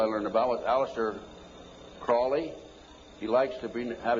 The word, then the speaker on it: Crowley: learned about with Alistair Crawley he likes to be have his name pronounced Crowley to rhyme with holy and the satanists today